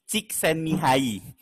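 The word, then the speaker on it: Csikszentmihalyi: pengalaman menyenangkan ini ngerjain ehely six than me hyip balik 60% mau harga Oke jadi kalau yang bener gimana Kak namanya adalah mihai cziksentmihalyi Oh gitu bacanya Ya udah nih yay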